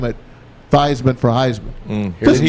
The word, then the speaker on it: Theismann: You know they changed it to rhyme with the Heisman? Yeah. That's why they changed Joe Thiesman's name to Joe Theismann. That's because a- they wanted to rhyme it Theismann for Heisman.